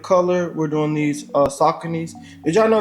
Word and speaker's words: Saucony: Just for a little bit of color, we're doing these uh Sauconys. Did y'all know it's pronounced Saucony and not Saucone?